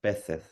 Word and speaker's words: peces: I come from the Canaries, and the Canaries we don't pronounce the zeta. Aha, got For you. example, peces. Yeah. She said peces. Like Peces, yeah.